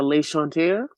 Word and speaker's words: L'Enchanteur: first of all you tell us your preferred pronunciation of this beautiful line we are Le Shante we're from Brooklyn New York City by way